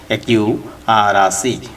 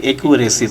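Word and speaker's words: accuracy: Viewers, আমরা এখানে একটি শব্দ দেখতে পাচ্ছি যেটার সঠিক উচ্চারণ হচ্ছে একিউ আর আসি। এটা কিন্তু একিউরেসি বলবেন না, বলবেন একিউ আর আসি।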